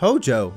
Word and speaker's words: Hojo: Der heißt auch gar nicht Hoyo, der heißt Hojo, ja?